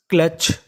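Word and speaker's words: clutch: यहां पे जो हमारा यू है वो हमारा साइलेंट रहेगा।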